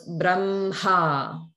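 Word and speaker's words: ब्रह्म: So some people may say it more like either Brahma or Brahma, but there should be a ha sound. The ha should be clear. So it's Brahma, okay?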